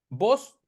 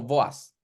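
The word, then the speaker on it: Booz: principal de la historia vos en su idioma nativo se pronunciaría algo como voas ya y Qué significa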